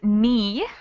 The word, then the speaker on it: knee: so like home right yeah oh w exactly yeah same box as home excellent next one we have is knee with a silent k which box might that